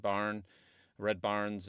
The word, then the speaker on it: Baarns: of just saying, yeah, just think of Red Baarns, and then that'll work.